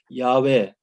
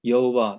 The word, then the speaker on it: 야훼: 그래서 이제 모세가 당신의 이름을 나에게 알려주시옵소서 얘기를 했을 때 나는 스스로 있는 자이니라 이와 같은 얘기를 하시면서 야훼 혹은 여호와, 야훼가 더 정확한 발음인데요.